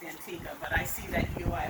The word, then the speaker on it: Antigua: We say Antigua by force of habit, but really it's pronounced Antigua.